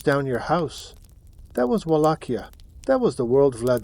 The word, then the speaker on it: Wallachia: was a small principality called Wallachia, pronounced Wallachia.